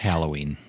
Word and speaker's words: Halloween: Mike always says Halloween it's like Amy it's spelled with an a there's an A in it it's Halloween it's Halloween Halloween All Hallows Eve